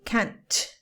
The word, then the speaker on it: can't: Be careful with this because you have to pronounce the T in a hard way. If you don't, it sounds like can, which is the opposite of what you're trying to say.